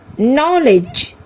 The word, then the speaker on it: knowledge: Knock, knee, not, knife, knowledge, no. In every word, K is silent here.